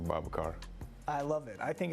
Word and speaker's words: Babacar: car yeah they call like my name is Baba car but I think it's easily for them calling me Baba cuz sometimes some people have a problem pronouncing Baba car I love it I think it's a great